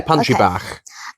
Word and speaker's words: Pantri Bach: Um, only because it was about lunchtime when we were at Pantry Back. Um, and is that how you pronounce it? Yeah, pantry bar.